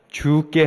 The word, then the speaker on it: 주께: 2023년 죽게 하듯 살자고 다짐했습니다 여러분 발음을 잘 하셔야 합니다 주께 하듯 해야지 죽게 하듯 하면 곤란하겠죠 가정과 일터 또 교회와